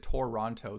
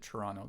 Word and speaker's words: Toronto: Yeah, well I don't even pronounce it Toronto the way that it's spelled. I just pronounce it Toronto. There's no T's in Toronto. If you're from this area you know that there's no T's in Toronto.